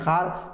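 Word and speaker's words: ख़्वार: लिखा गया है दरख्वास्त, पढ़ते हैं दरखास्त। लिखा गया है ख्वाब, पढ़ते हैं ख्वाब। लिखा गया है ख्वार, पढ़ते हैं खार। ये तीनों के तीनों वाव मादूला हैं, यानी यहां पर वाव साइलेंट है।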